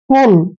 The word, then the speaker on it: pull: और यहाँ पे देखिए PULL, इसको पढ़ते हैं हम पुल। तो दोस्तों यहाँ पर एक कंफ्यूजन होता है कि यहाँ पर यू का उच्चारण हमने ए के रूप में किया है और यहाँ पर यू का उच्चारण ऊ के रूप में किया है।